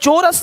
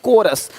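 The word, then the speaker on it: chorus: यहां पे क्या लिखा चोरस नहीं कोरस देख रहे हो शिफॉन यहां पे शिफॉन है शिफॉन कौन है?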